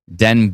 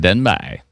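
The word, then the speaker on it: Denbigh: Denb it's pronounced. Oh, Denb. I thought it was more like uh like Newfoundland. Denbby. No, Denb. Okay.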